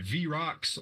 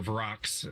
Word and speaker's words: vrock: you get attacked by v-rox or vrocks if you want to say it wrong um demon creatures attack